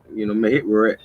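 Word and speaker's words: Mehet-Weret: Mehit Weret. Like the third way is spelled is the way I'm more familiar with it.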